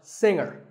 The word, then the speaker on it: singer: we say the G younger again with the G but singer no G and what would you